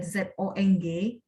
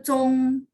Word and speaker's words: zong: Kalau satu lagi kita ada ZONG, misalnya ada satu juga ya, itu Zong, lidah saya nggak angkat.